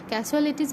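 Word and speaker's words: casualties: There were no ক্যাসুয়ালিটিস, দেখো এটার অর্থ আর এটার উচ্চারণ অনেকেই পারে না, এটা হচ্ছে ক্যাসুয়ালিটিস মানে হচ্ছে যে কোনো ক্ষয়ক্ষতি, মানে সেখানে কোনো ধরনের ক্ষয়ক্ষতি হয়নি।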